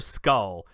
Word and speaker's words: SKL: you've been pronouncing it, yes, it is spelled SKL, but it is pronounced Skull.